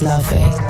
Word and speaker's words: Laufey: Laufey Lien Bing Jonsdottir, known simply as Laufey, pronounced Laufey, took the stage, and suddenly it was 1955 and 2025 all at once.